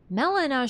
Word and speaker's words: Melina: and look at melenia Melina should be pronounced Melina meina just like MAA but then malania the